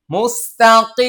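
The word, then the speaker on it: مستقيم: দেখেন অনেকে কিন্তু এরকম উচ্চারণ করে মুস্তাকি, কি, কি। এই যে কফের আওয়াজ হলকের মধ্যখান থেকে টন টন করে আওয়াজ করা, এটা ভুল উচ্চারণ। হ্যাঁ, মুস্তাকিম, দেখেন কফটা মোটা হবে,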